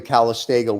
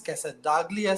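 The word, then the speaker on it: Casdagli: Just to correct to correct and pronounce it right, it is Cassadaglia cigars and the cigar in that is Daughters of the Wind.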